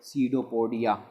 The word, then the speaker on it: pseudopodia: These are called pseudopodia. Pseudopodia, यहाँ पर P silent होता है।